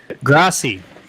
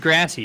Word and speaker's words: Grassi: Grassi. I've always said Grassy. No, it's wrong. It's Grassi.